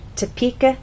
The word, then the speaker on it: Topeka: do not say topic Atkins ass the correct pronunciation is Topeka Kansas get it exercise to listen to the